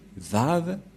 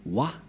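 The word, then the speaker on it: וה: C'est pourquoi les gens disent Wa. Mais en fait, ce n'est pas Wa, la vraie prononciation, mais Va pour les Juifs. Les Juifs le prononcent Va.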